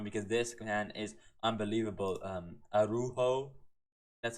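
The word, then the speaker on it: Araújo: Arujo, that's how you say his name.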